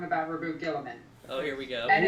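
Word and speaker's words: Guilliman: Okay, so you were both right and wrong about Reboot Gilliman. Oh, here we go. And it's, Ooh. Oh! it's actually pronounced Robooty Girly Man.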